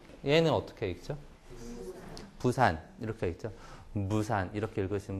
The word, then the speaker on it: 부산: 푸산이라고 읽잖아요. 푸산. 그래서 푸산 하하 이렇게 웃는 거죠. 네. 얘는 어떻게 읽죠? 부산 이렇게 읽죠.